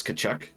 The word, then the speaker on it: Kachuk: I just like that character's last name because it's Kachuk. And the both Kachucks can go fuck themselves. Razor will That's get like me on that. Chuck rhymes with fuck.